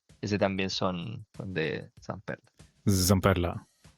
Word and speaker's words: Zamperla: Zamperla. Zamperla. Espero también que todos ahora los que nos escuchen empiecen a pronunciar la Z.